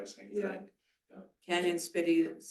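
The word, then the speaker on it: Cañon City: Canyon City is spelled CANON.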